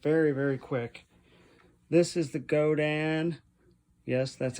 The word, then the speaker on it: Godin: This is the Godin, yes, that's how it's pronounced, Montreal Premier Limited, and a gorgeous sparkle green.